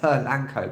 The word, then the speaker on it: Polanco: and I find that American English so much many Americans out there is very simplified and it's phonetically it's very it's pronounced how its set so Polanco but I say / Lancome because British English has a schwa sound which is a sound it which is probably the most common sound in British English so that's where pearl & Co comes from and actually this is